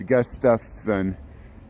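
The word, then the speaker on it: Gustafson: I know I've been saying your name wrong all this time you know it's gust stuff son and uh just like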